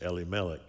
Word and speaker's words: Elimelech: you can pronounce it, I always pronounced it Elimelech until I knew a guy by that name in Israel, and he pronounced it Elimelech. So I sort of say it both ways now.